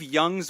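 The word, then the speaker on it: Jung: and this is a good team name Steve Young's West Coast but young is spelled j n g yeah that was that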